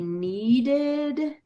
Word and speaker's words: kneaded: So she mixed, she kneaded, that has a silent K in that one.